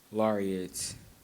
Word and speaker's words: lariat: Correct spelling is L-A-R-I-A-T. Just hung up on the end there for LaRon. Lariat, the more common pronunciation of that, but the proper dictionary pronunciation there from Chrissy.